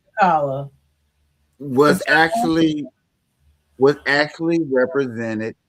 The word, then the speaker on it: T'Challa: And Black Panther, Wakanda, Wachada, even though I'm pronouncing his name a little wrong, I'm sorry, T'Challa. um, T'Challa.